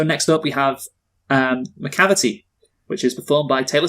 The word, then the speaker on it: Macavity: yeah I'm a cavity macavity see I want to point out that they they really got a lot of mileage out of the fact that Macavity name rhymes with depravity yes they do we